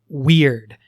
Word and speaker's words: wyrd: on, but there's this concept of the weird. Now, I could say that with a different accent, but WYRD is how it is spelled in the book.